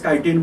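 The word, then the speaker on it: chitin: called as kitin but don't write down K it is pronounced as kitin but we have to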